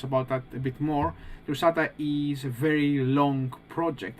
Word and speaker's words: Drusatta: Who will be talking to us today about Drusatta? Is that the correct way of actually pronouncing it?